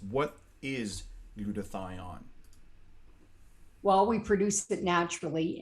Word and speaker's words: glutathione: needs to survive is glutathione and if you don't know how to pronounce it it's quite simple glue to thigh on i used to say